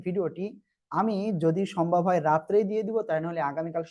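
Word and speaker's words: راء: র, র। এ অক্ষরটা একটু মোটা আওয়াজে হবে, জিহ্বার আগা দুই দাঁতের আগার সঙ্গে লাগিয়ে উচ্চারণ হবে।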